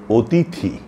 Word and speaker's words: অতিথি: যেমন ধরুন অতিথি। এ শব্দটির উচ্চারণ অনেকেরই ভুল হয়। অনেকে এটাকে অতিথি বলেন। অর্থাৎ শেষের থ টাকে আগে নিয়ে আসেন। ত টাকে পরে নিয়ে যান।